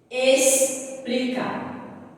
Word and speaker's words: explicar: Explicar. É escrito com quê? Com X. Mas o som é diferente. Porque eu não vou ler explicar. Eu leio dessa forma. Explicar.